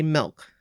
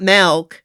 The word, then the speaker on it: milk: You have to say milk. So I've been trying it. Because even Bryn corrected me. She's like, it's not milk.